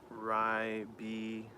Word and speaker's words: Ribena: Pronounced Ribena.